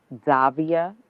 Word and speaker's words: Davia: Davia. Am I pronouncing your first name right?